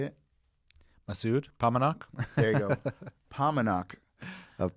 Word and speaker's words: Paumanok: kareem and how do you say it massoud paumanok there you go paumanok of pomenoc vineyards on